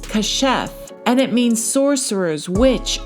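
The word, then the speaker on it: כָּשַׁף: So if we go to the Blue Letter Bible, that word for sorcerers is H3784 and it's pronounced kashef, and it means sorcerers, witch, or witchcraft.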